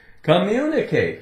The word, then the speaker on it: communicate: Double M. So we're not going to say communicate, communicate. Communicate. There's no break. The way it's said, the 2 M's, really they just run together, right? Communicate. Communicate. Just like when you get to the N. Communicate, right? You hear one N. There is only one N.